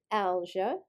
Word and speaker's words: algia: or egg cell membrane the suffix algia pronounced alger refers to aches and